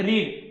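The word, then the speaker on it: read: Verb कौन सा है, रीड, रीड का पास्ट पार्टिसिपल क्या है, रेड, स्पेलिंग वही रहेगा, सिर्फ प्रोनाउंसिएशन चेंज होता है, let this lesson B रेड, let this lesson B रेड, है ना।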